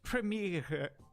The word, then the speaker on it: Premiere: you say World premiere in German it's actually premiere yeah congrats and thank you so much